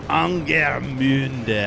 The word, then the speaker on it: Angermünde: The thing is, I'm bad with my U umlauts, you know. Here, Angermünde. It's hard. You gotta really wrap your mouth around that word in a way that no American ever would.